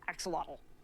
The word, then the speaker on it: axolotl: But best of all has got to be the swimming form, the swimming travel form, which is an axolotl.